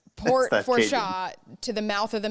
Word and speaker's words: Fourchon: Fourchon, yeah. It's yes. like So Fourchon. Yeah, don't even say the end. Port Fourchon to the mouth of